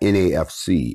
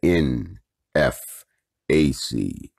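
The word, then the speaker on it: NFAC: your captain j rambo it's not nafc it's the n f a c if you gonna type it say it right y'all help him out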